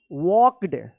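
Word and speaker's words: walked: जी एस T night वॉक्ड डब्ल्यू ए एल के ई डी वॉक्ड यहां पे L silent है वॉक्ड towards toward होगा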